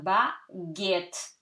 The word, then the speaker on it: baguette: Next one, baguette. So, you remember G-U gives you G, okay? Because if there was no U, you would read it baguette, okay?